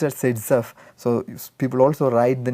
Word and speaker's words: Zaitsev: So, it has to be pronounced as Zaitsev.